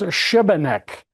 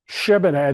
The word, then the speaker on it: Šibenik: And then we're going to this, and this is pronounced Šibenik. Šibenik. The S is S-A, Šibenik.